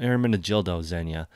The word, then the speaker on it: Ermenegildo Zegna: be our managed ildo Ermenegildo Zegna as the pronunciation of this brand right here but if you put